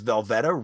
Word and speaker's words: Velveta: their recent album was velveta rhymes with loretta in case you were